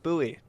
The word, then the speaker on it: Bowie: a david bowie club i said bowie because there's a place nearby here spelled the same way but everyone calls it buoy my brain had a